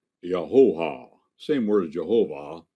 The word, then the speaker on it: Jehovah: But the Hebrews said Yahoah. Same word as Jehovah. 3 syllables, not 2. Not Yahweh. Yahoah. Yahoah. Yahoah. Notice, no consonants. You can say it without closing your oral passage.